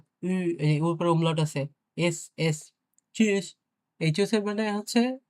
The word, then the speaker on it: Tschüss: তো এখন আপনি যদি এই টি টাকে উচ্চারণ করতে চান তাহলে কিন্তু হচ্ছে না, হ্যাঁ?